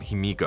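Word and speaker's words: ヒミコ: जब Saturday morning adventures के पन्नों में उनकी कहानी का विस्तार किया गया, तो उन्हें हिमिको नाम दिया गया, जो पिमिको नाम का सही उच्चारण है, जिसका उपयोग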